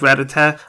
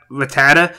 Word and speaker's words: Rattata: so yeah really cool stage I really like rat attack I know some people pronounce it Rattata but in the original show back when I was a kid they called it rat attack now they call it Rattata so what do you guys call it you